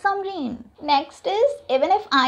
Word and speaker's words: Samrin: It's not Simran, it's Samreen. S-A-M-R-I-N. Hamesha Simran kyun likhte ho? It's Samreen.